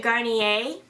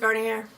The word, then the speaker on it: Garnier: So this is the Garnier. I always want to pronounce it Garnier. Whatever, my sister's like, it's French. French? It's French, right? My God. So yeah, Garnier Skin Active Micellar Makeup Removing Towelettes.